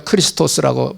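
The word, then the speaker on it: Χριστός: 헬라말로 크리스토스라고 발음합니다.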